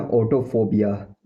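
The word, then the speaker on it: autophobia: इसको बोलते हैं ऑटोफोबिया, ऑटोफोबिया, ऑटोफोबिया, ऑटोफोबिया।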